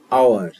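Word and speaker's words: hour: যেমন অ্যান আওয়ার, এখানে এইচ এর উচ্চারণ নেই, আওয়ার এইটুকানের উচ্চারণ হচ্ছে, সেই জন্য এখানে অ্যান বসলো।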